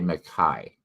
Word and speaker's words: McKay: And I realized you don't have to say it with a Scottish accent to pronounce it correctly. It's just that he pronounced it Stephen A. McKay.